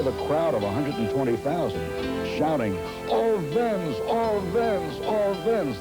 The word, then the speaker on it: Owens: crowd of 120,000 shouting, "All Vens, all Vens, all Vens." The W in German, you know, it pronounces the V. And they were all shouting in unison, "Owens, Owens."